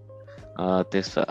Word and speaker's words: Tesfaye: Tesfaye, como é que se pronuncia? É, Tesfaye.